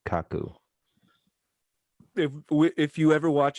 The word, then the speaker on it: Kaku: yeah michio and then k-a-k-k-a-k-u which i assume is kaku if if you ever